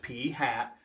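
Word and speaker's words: p̂ (P hat): represent the sample proportion is P hat it's pronounced P hat and again anyone who knows what you're doing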